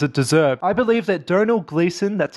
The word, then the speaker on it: Domhnall Gleeson: I believe that Domhnall Gleeson, that's how you say his name, I know